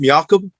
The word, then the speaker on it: Jakob: somebody out uh tutorial jakob markstrom's always pronounced miyakob yes jakob marks jacob